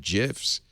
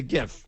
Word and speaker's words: GIF: No, because it's not a J, it's a G, it's a GIF. But a giraffe is spelled G-I.